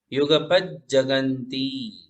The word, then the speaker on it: युगपज्जगन्ति: नास्तम कदाचिदुपयासि नराहुगम्य नास्तं कदाचिदुपयासि नराहुगम्य नराहुगम्य स्पष्टीकरोषि सहसा युगपज्जगन्ति ज डबल है, 2 बार ज है तो 2 बार उच्चारण। युगपज्जगन्ति। हाँ, प के ऊपर जोर देंगे तो बराबर उच्चारण होगा। पज्जगन्ति, युगपज्जगन्ति।